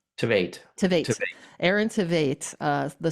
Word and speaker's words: Tveit: Is it that's how you pronounce it? Tveit? Tveit, Tveit.